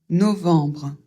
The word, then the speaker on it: novembre: Le premier O, il va falloir le prononcer comme un O fermé. O, E m suivi d'un B. On l'a vu, ça fait en et on prononce le B. Donc, on prononce novembre, décembre.